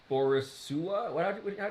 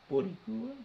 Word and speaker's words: Boricua: Okay, on the list of things that you mispronounced, Scuito is still beneath Borisua. Wait, did he say Borisua? But yeah, how do you say guess what he's trying to say? Boricua.